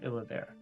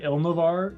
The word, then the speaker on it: Illavare: is the location known as the Plains of Illavare. Oh, wow, we've been pronouncing it so wrong. Yeah, Illavare. Illavare. Illavare. Illavare. Illavare. Okay. I know, I said Ilnavar when I was telling Drew about it earlier